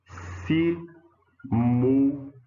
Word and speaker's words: simultâneo: A palavra simultâneo. Ó, a penúltima que é a forte, com um ditongo na última sílaba.